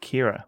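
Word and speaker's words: Ciara: It's pronounced like Kira, it's an Irish. I think, yeah, it looked like an Irish name, and I thought it sounds like I'm probably pronouncing it wrong. So Kira O'Sullivan, welcome in.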